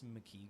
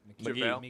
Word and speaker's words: McGee: I like this McKee guy. McGee, how do you say it? McGee.